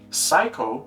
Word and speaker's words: psycho: Now, even after hearing it many times that it's psycho with a silent P, they just continue saying psycho.